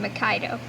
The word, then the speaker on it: Mikaido: Yes, Gabby, that's how you say his name, Mikaido. I hope you've been saying it right.